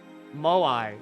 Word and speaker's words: moai: donna a dull girl moai is how you say it this thing maui more